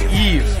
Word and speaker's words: Yves: Yves? That's how you say the name, right? I'm crushing, I think. I think a bias just developed. Like, Eve. It's pronounced Eve.